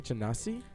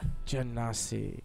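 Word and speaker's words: Genasi: is i mean water how do you say chanasi jannasi yeah jannasi and my background of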